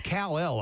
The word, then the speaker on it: Kalel: And then the last pick, Kalel Mullings. Superman. He's fascinating to me. Joseph Bonato was talking about that day. He goes, it's Kal-El. I said, I understand the origin, but it's pronounced Kalel.